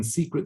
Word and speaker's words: Seacret: And as you see the timeline, 2005 is when Seacret Spa was started, and it's spelled SEA because they believe it's the best kept secret.